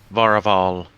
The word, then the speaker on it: Vauraval: A giant by the name of Varaval Stonecleaver. Okay, that one's gonna need to be spelled. Just spell it phonetically.